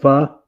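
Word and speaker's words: phở: It's supposed to be like a fake restaurant name, but it's called F-ine because you pronounce it pho.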